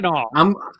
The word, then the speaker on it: Mackinac: The Maple Mackinac Fudge KBS from Founders. Did you call it Mackinac? Mackinac. Is that how you pronounce it? That's how you pronounce it. Mackinac.